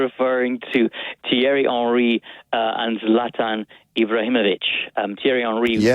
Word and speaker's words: Zlatan: Zlatan Ibrahimovic Zla But it's it's it's with an N. It ends with an N. So, how in the world can it be Zalta? Zlatan, not Zalta. Zlatan.